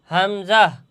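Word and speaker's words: همزة: এই হা আর এই হামজা। এই দুইটি হরফ একই স্থান থেকে উচ্চারণ হবে। দুইটি হরফের মাখরাজ একই জায়গায় যে হলকের শুরু হতে এই দুইটা হরফ হা আর হামজা এই দুইটা হরফ হলকের শুরু হতে উচ্চারণ হবে।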